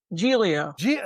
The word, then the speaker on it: Giglio: did I pronounce it? Is it Giglio or Giglio? Giglio.